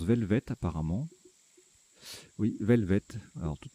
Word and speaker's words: velvet: à longue queue tandis que velvet il se prononce velvet apparemment oui velvet alors toutes mes excuses je